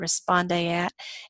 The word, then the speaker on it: respondeat: You don't need to know how to pronounce it, but that's how you pronounce it, responde et.